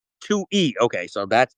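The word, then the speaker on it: Twohy: jump into it I did read how to pronounce Mr. David's name. It's actually Tui E. Tui E.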